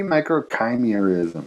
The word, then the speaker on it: microchimerism: it it might be microchimerism because it's felt like chimera yeah they say like the root word comes from chimera but i i've always